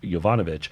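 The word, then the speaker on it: Yovanovitch: And also keep in mind that Kent also had whed that former US ambassador to Ukraine, Marie Yvanovich, uh had been sacked on I pronounced it correctly that time.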